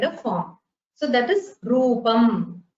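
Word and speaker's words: रूपम्: So that is rupam. It is not rupaha because there is no visarga at the end.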